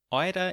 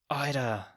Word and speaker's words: oida: Of these typically Austrian words and phrases, oida is an especially interesting one. It's quite Viennese, and comes from a Viennese pronunciation of alter, which literally means old man.